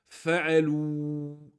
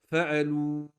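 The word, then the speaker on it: فَعَلُوا: livre d'apprentissage de lecture, on sait que ce alif ici, on ne le prononce pas. On l'écrit mais on ne le prononce pas. Ça fait hum fa'alou.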